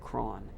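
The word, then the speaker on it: Croghan: guy named George craw it looks like his name is spelled Krogan but apparently he said cron and cron comes out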